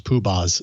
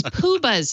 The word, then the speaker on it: Poobah: Oh, it's Poobahs, not Poombahs. Oh, Poobahs, isn't it? How do you spell it? Poobahs, yeah, it's Poobahs. I don't know how we spell it.